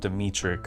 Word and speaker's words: Dmytryk: Edward Dmytryk, I believe is how you pronounce his name.